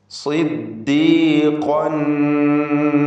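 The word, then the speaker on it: صِدِّيقًا: കാന സിദ്ദീഖൻ, സ്വാദിന് കസ്റുള്ളത് കൊണ്ട് കുറഞ്ഞ തഫ്ഖീം കൊടുക്കുക.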